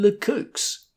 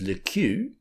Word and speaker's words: Le Queux: I think you mean Le Crooks.' They appealed to me, and I said authoritatively that the proper pronunciation was Le Queux. Another man in the corner broke in with Le Kicks, and they were still